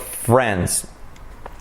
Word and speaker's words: friends: Another key letter is the short I. So it's not going to be friends or friends, but friends.